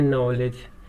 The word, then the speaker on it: knowledge: KNOWLEDGE, बोलते हैं नॉलेज, K को साइलेंट कर देते हैं।